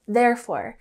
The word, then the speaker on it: therefore: So next we have therefore, and the emphasis is on the first syllable, therefore. And this indicates that there is a consequence or a result for something.